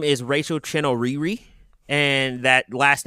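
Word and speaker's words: Chinouriri: so there's an artist her name is Rachel Chino Riri and that last name is spelled c h i n o Ur r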